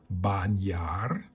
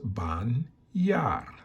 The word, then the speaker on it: bañar: The first word you learned or practiced or learning is bañar and is pronounced bañar.